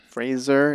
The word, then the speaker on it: Fraser: you seen that one the Aronofsky movie Brendan Fraser Fraser is how you pronounce his name is what I learned uh